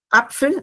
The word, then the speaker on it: Apfel: Entonces esta es la manzana apfel. Acá se lee es la a corta. Este es ejemplo de a corta.